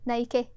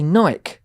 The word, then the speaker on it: Nike: Nike. Do you really? Yeah. See, I say Nike. I know you do. But it is Nike. Yeah. Because that's the Greek god. Greek goddess.